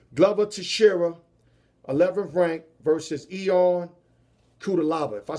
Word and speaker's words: Ion Cutelaba: Glover Teixeira, 11th ranked, versus Ion Cutelaba.